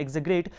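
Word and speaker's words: exaggerate: यहाँ पे एक्साग्रेट, एक्साग्रेट का मतलब होता है एग्जेग्रेट, वैसे इसका प्रोनाउंसिएशन होता है एग्जेग्रेट, किसी को बढ़ा चढ़ा कर कहना।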